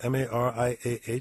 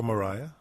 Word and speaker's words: Mariah: Maria, your name is spelled M-A-R-I-A-H. Should I say Maria or Mariah? It's Mariah.